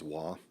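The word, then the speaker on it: Hua: Waugh, it's pronounced H-U-A as Waugh, is a clinical and anatomical pathologist.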